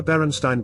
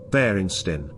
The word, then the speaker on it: Berenstain: I remember Berenstein Bears pronounced, Berenstain.